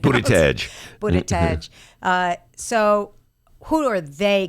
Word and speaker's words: Buttigieg: whose last name I'll never be able to pronounce. Buttigieg.